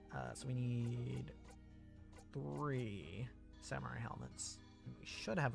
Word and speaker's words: samurai: helmets for everyone somewhat i have been using the english pronunciation of samurai whereas in japanese would be samurai again it's just a difference in that case it's just the difference of using the japanese r versus the english are uh i don't actually